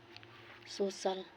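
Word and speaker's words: social: यदि सी को आगे आई ए हो तो सी का उच्चारण सा होता है, जैसा सोशल।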